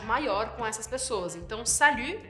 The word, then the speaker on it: salut: Salut, salut. Tem esse som que não existe em português, que é o som do U, U. Você vai precisar fazer biquinho aqui, ok?